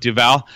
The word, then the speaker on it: Duval: last night I think that trayon Duval is how you pronounce it now we're learning not Duval but Duval is it unreasonable to